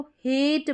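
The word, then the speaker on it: hate: अब यहां पर ए का उच्चारण ए करके होगा। रूल के अनुसार अगर हम इसको पढ़ेंगे तो हेट बन गया ये। ठीक है? हेट बन गया है। यहां पर इसका साउंड ए करके निकल कर आ रहा है ए का। अगर हम इसको ऐसे बोल दें कि हेट हेट तो यह गलत हो जाएगा।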